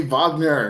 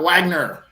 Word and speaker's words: Wagner: enunciations I was like can you please say Vagner not Wagner well I mean the